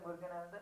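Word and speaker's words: Muruganantham: Arunachalam Muruganandan.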